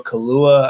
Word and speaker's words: Kaluuya: Daniel Kaluuya, I think is how you pronounce it.